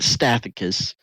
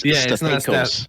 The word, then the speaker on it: Stathakos: No, it's not Stathakos. It's Stathakos. Stathakos. It's a long A.